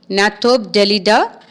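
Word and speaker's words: Gnathobdellida: It belongs to the phylum Annelida, class Hirudinea, order Gnathobdelida, that is G is silent here, and genus is Hirudinaria, and species is granulosa.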